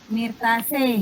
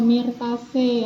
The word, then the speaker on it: Myrtaceae: Kalau EAE dibacanya E, berarti bacanya apa, Nak Dwi? Myrtaceae. Iya, Myrtaceae ya, itu cara Oh, iya, Bu.